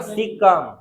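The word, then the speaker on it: caecum: इसको बोलते हैं हम सिक्कम इसको बोलते हैं हम सिक्कम सिकम का स्पेलिंग होता है सी ए ई सी यू एम सिकम ठीक उसको हम क्या बोलते हैं सिक्कम बोलते हैं छोटी आंत का एक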